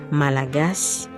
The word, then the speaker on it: Malagasy: English speakers often say Malagasy, but locals say Malagasy. Hear that? The final Y is just a whisper.